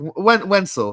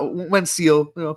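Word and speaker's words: Wenceel Pérez: Wenzel, not Wensil, close.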